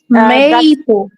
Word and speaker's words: maple: Is it a short or a long a long a maple? Yes. Maple. Maple syrup.